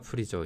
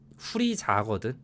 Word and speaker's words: 후리자: 똑같이 억울하다 나 화났다 프리저 이게이 처음에 프리 후리 자거든 영어 그니까 그 1어 원어로 하면 후리자 우리나라는 프리저가 맞잖아요 영어 발음에 좀 더 가깝잖아요 근데 일본 발음은 저를더라